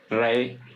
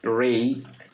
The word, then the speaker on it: Re: Sometimes they called or they pronounced Re or Ray like that.